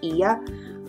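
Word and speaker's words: Oia: to the Village of Iya it's o i a but it's pronounced e crazy crazy crowded this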